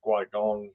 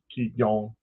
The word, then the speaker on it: Qigong: So Qigong, which is spelled Qigong, it's either Guigong or Qi, Qi, Qigong, uh, is a variation somewhat of uh, Tai Chi.